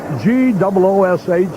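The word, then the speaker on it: Gwosdz: have this name spelled G-O-O-S-H, the phonetic spelling, rather than all the S's, W's, and Z's? Gives him some character, though. G-W-O-S-D-Z is the spelling, but it's pronounced Goosh.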